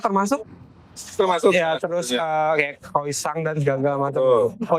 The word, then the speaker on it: croissant: itu dari Prancis. Penyebutannya croissant. Tapi kita kan selama ini nih pasti Ya. yang nonton juga pasti ngomongnya croissant. Croissant ya. Ah. Tulisannya begitu. Bacanya croissant. Croissant.